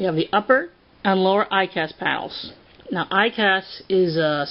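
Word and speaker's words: EICAS: Moving right along, we have the upper and lower ICAS panels. Now, ICAS is spelled E-I-C-A-S, and it stands for Engine Instrument Crew Alert System.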